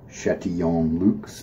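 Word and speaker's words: Chatillon Lux: tall collaboration effort from chat to young Luke's is how you pronounce that shet - yo Luke's partly French that's why and then Ella no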